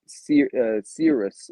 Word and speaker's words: Cirrus: But like you were saying with the previous one, Cirrus, if I'm Hmm. pronouncing that right, Mark, Serious, yep.